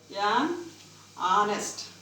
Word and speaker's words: honest: An honest. An honest person. An honest. an honorable. Honorable. Here H is silent.